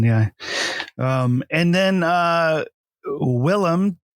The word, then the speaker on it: Willem: um and then uh willem dafoe which regularly gets uh mispronunciated as william um so i'm surprised i got willam right um who also uh